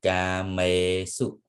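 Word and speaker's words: kāmesu: May because may a here is also long vowel. Okay, so you have to say kame su. Su is short.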